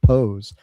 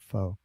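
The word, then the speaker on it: phở: Uh, Virtuoso Russ, I'm at a Vietnamese restaurant in Daytona Beach, Florida called Mama Pose. As I have discovered, it's actually pronounced Po, not Fox.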